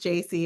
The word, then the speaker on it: Jaci: It's pronounced Jaci. If you got it wrong or thought it was Jackie, that's my parents' fault, not yours.